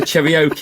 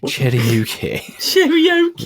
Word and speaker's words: karaoke: fun you you've got to learn how to pronounce that Milo we're nearly a year on and I'm sure I can't a Cheroke is it Cheroke karaoke karaoke you call it the cherro didn't you